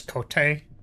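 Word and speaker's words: 籠手: See if you're wearing Japanese armor known as kote, which sounds like coat but isn't pronounced that way.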